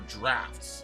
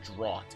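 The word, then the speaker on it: draught: silently continued making her drafts that word is actually pronounced draft not drought even though it's spelled that way however the people no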